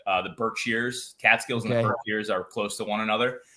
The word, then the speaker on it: Catskills: you how do you say the word cat cat skills that's Bobcat cat skills or with a G